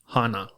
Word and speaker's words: hana: And flower is hana. Hana is spelled h a n a.